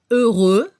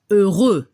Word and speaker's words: heureux: Para el masculino no se pronuncia la X, heureux, y al femenino se pronuncia como una Z al final, heureuse.